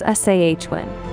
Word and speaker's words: Samhain: everchanging Rhythm the Celtic Festival of sin pronounced as Awin a time when the